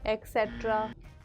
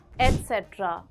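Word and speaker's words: et cetera: भेज लीजिए milk bread एक्सेट्रा एक्सेट्रा नहीं एक्सट्रा होता है एट्र very commonly miss pronounced as एक्सेट्रा जबकि इसकी सही प्रोनंसिएशन है एट्र फॉर एग्जांपल प्लीज बाय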